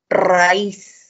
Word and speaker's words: raíz: Entonces tenemos raíz. En raíz la mayor fuerza de voz está en la I, por lo tanto debo tildar.